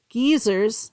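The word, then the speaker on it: guisers: prayers for the dead on All Souls day geezers that's what they're called in Scotland there it's spelled guys gu i s e r s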